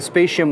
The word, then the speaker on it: Spatium: ssds these are the spacient ones I've just been I've just confirmed the pronunciation of msi's branding for their ssds spaceship guys that's how you pronounce this but they have two